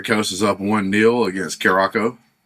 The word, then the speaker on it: Curaçao: By the way, Ivory Coast is up 1-0 against Curacao.